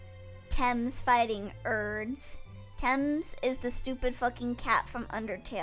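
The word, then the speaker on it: Thames: oh I'm a dumbass TS oh TS temps okay Kashi scanned the map of the riverfront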